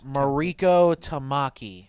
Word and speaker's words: Mariko Tamaki: I am slightly worried how do you even pronounce that Oh Mariko Tamaki Mariko Tamaki Tamaki I am like I'm she's